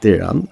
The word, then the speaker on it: Tyran: only if you do Tyran which is actually pronounced tyan is a late polish